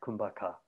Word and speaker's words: Kumbhaka: what what is called traditionally this breathing technique kumbaka and kumbaka is is spelled k-u-m-b-h-a-k-a kum aka and literally it means